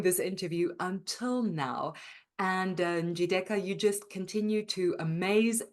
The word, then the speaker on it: Njideka: And I got the idea of making it like a music so that the syllables can stand out for themselves. So Njideka is a Nigerian lady from the proudest tribe in Nigeria, Igbo.